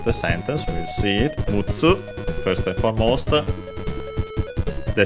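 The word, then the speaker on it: 六つ: So mutsu with mu, double consonant tsu, should be accented on the last syllable.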